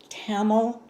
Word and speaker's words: Tamil: This is pronounced Tamil.